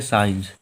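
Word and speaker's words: science: हम लोग पढ़ते हैं साइंस। जब भी यस के बाद में सी आया है तो ये हम लोगों का साइलेंट होगा सी।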